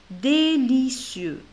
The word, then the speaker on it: délicieux: Alors, je ne prononce pas la lettre X, sont délicieux. Voilà. Et ici, le S, je le prononce, le C, je le prononce S. Délicieux, parce que C avec la voyelle I se prononce Si.